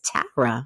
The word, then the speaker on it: Tara: first name right cuz I do not like Tara Tara it's Tara I'm a New Jersey girl so you said